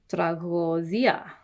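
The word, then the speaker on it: τραγῳδία: It's just that with a line underneath because it originally was a oi kind of diphthong. Tragodia.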